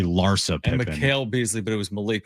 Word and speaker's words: Larsa Pippen: I said it's I said Lissa Pippen and it's actually Larsa Pippen.